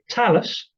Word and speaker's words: Talus: this is i believe it's pronounced talus tell us who the is talus